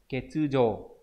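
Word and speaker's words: 欠如: Ví dụ chúng ta sẽ có những từ đọc là gì nhỉ? Yo, ví dụ này, ketsujo thiếu đúng không?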